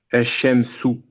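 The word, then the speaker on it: الشمس: Donc, à ce moment-là, il faut pas prononcer, lorsque tu vas lire ce mot-là, ne prononce pas le lemme de l'article. Tu vas du A, tu vas directement sur la lettre solaire.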